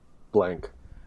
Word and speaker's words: Blanc: always a photocopy of mel blanc blank um isn't it blanc but he does it yeah oh he still pronounces it blank um oh who had